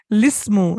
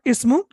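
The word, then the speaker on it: الاسم: Here it is as it you're pronouncing it, lismu, lismu, not ismu, lismu.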